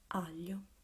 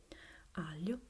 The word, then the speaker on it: aglio: Now, as a word, we have aglio. Aglio is garlic.